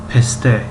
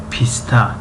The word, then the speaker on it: پسته: بنابراین پروانه با زبان تاجیکی پروانه، پسته پسته پسته ما تاجیکا میگوییم پیسته پیسته، اما با خط فارسی پسته پسته خوانده می شود.